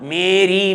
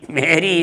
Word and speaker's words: Mary: A popular Christian name, woman name is Mary. Mary. But what we call Mary, Mary. Mary is wrong. Mary. That is the correct name of that Christian woman. Mary.